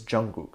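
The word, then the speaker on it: 정국: And apparently when translated to English, she used the characters to say gook, like Jungkook, because the proper Korean pronunciation for his name is Jungkook.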